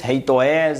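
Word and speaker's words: HATEOAS: sua iepi permite executar pronunciar Haas não é um não é fácil e pode variar Bastante de desenvolvedor para desenvolvedor escreve-se h a t e OAS e muitas pronunciam Rei reit toes enfim Inclusive eu tenho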